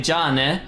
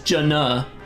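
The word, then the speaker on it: じゃあね: So like there's a part where she's clearly trying to say "jane" when she like dispatches an enemy, which just means like see you later, bye bye, but she says "jana," like almost mispronouncing the beginning of my name, just "jana." Isn't even a sound in Japanese.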